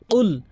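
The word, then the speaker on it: قل: হে রাসূল আপনি বলুন যখন আপনি কফটি জিহ্বার গোড়া থেকে এভাবে ধাক্কা দিয়ে উচ্চারণ করবেন কুল কল কফ জিহ্বার গোড়া উপরের তালুর সঙ্গে লাগিয়ে ধাক্কা দিয়ে কফ কল কুল কখনোই বলবেন না কাফের উচ্চারণ করবেন না কফের উচ্চারণ করতে হবে আশা করি এই প্রথম ভুলটি বুঝতে পেরেছেন।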